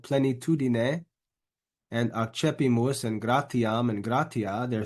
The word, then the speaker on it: accepimus: One thing you might notice is when I pronounce this word here, it's not accepimus. That syllable there in the middle is pronounced che. So accepimus, accepimus.